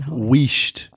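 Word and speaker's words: huisst: The word pronounced weisht. Spelled H-U-I-S-S-T, which originated in around about 1350 to 1400 A.D., which is after the Roman Empire, Sarah.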